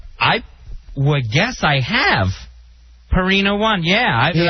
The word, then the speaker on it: Purina: have you been saying purina all this time i would guess i have perina one yeah a hard pee yeah instead of easing into a pure i had no idea